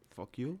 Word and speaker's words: PHUKYU: It's spelled PHUKYU. Fuck you. It's fuck you.